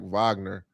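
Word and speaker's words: Wagner: I got to I got to do a better job pronouncing his name. It's like Vagner.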